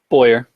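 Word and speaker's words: Bowyer: to pick our so how you say his name Boyer yep Clint Boyer he said Bauer you go yup Boyer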